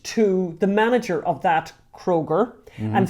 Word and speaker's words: Kroger: so basically there was a kruger which is like a ralph's kroger okay i'm saying it wrong a kroger which is a supermarket